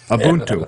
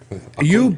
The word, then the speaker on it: Ubuntu: Go download Ubuntu Linux, okay? I can't pronounce that right. So say that again. Ubuntu. Ubuntu? Ubunto. Ubuntu. Ubuntu.